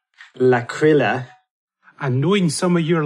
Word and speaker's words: L'Aquila: earthquake struck the town of sorry about my pronunciation, L'Aquila.